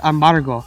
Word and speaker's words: Amaro: lakia Amal it actually Amal just a bad way to pronounce Amaro it's pretty much a